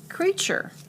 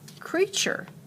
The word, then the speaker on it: creature: a word that that is let's go with creature creature let's spell the word c-r-e-a-t-u-r-e you better be